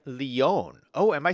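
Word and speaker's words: Lyon: to look Jesse says lion is a French city produced kind of like Leon oh am I saying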